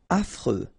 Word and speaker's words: affreux: Affreux. Final X not pronounced.